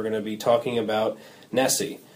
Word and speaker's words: NSSE: first podcast we're going to be talking about Nessie it's spelled NSS and it's the national survey of